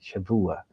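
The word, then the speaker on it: שבוע: you today is called Shavua. You write with a B, but it pronounced V, Shavua.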